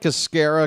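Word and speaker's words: Escarra: I like Escara because it rhymes with mascara.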